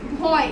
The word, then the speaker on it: ভয়: আমরা এটা কি বলেছিলাম সব সময় একটা শেষে স্বরবর্ণ থাকে অ, এটা আমরা উচ্চারণ করছি না এইটার ক্ষেত্রে, এই ছড়াটার ক্ষেত্রে।